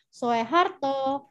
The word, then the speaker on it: Soeharto: kita di Indonesia yaitu Soeharto Soekarno yang benar adalah pembacaannya susu sesuai dengan UU gitu jadi Soekarno ditulisnya sehat Soeharto ditulisnya dibacanya Soeharto gitu jadi oe dibaca nah lanjut untuk materi